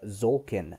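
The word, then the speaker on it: Tzolk'in: It's called Zolkin, and that's spelled Tzolkin, I believe.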